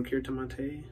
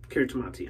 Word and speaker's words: Kiritimati: going to be using Kiritimati, or Kiritimate, but Kiritimati, I'm pretty sure that's what Doug said.